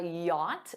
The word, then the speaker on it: yacht: He's rich enough to afford a yacht. Notice that pronunciation.